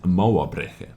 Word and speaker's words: Mauerbrecher: At first I thought Mauerbrecher or something like this, but my good old friend Google Translator lady said Mauerbrecher, as we can hear.